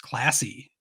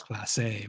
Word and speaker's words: Clase: And one trade that was brought up was for Guardians closer Emmanuel Clase, or I've heard pronounced Classy. Pretty sure it's Clase, but he is not classy.